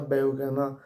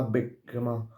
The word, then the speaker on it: Beukema: Maro oppure Castel di Sangro, che non si pronuncia Beukema, ma Beukema, si pronuncia, però vabbè, noi lo chiameremo Beukema.